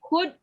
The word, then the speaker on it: could: Tadi could, L-nya jangan dibaca. Could.